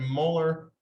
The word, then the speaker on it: molar: So find the mass of copper 2 sulfate needed to make 250.0 milliliters of 0.7550 molar solution. So that capital M, we pronounce that molar.